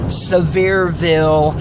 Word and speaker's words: Sevierville: some things you can do in Pigeon Forge, Sevierville, and Gatlinburg. That's how you pronounce those names of those towns.